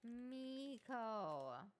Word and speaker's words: Miko: This captures the playful and irreverent tone that Code Maiko often uses. Okay. Can we actually fix your pronunciation of Code Miko? It's Code Miko.